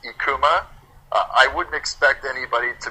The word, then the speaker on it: IKKUMA: Um it's pronounced Ekkuma.